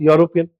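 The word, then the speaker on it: European: लेकिन इसका प्रोनंसिएशन कहां से शुरू हो रहा है बताओ? यू से। यूरोपियन।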